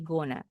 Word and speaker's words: gonna: Kalau going to bacanya dalam percakapan sehari-hari jadi guna.